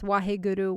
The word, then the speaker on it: Waheguru: find other spellings out there people are just phonetically trying to make it match how it sounds but it's Waheguru Waheguru of the mantra that I found is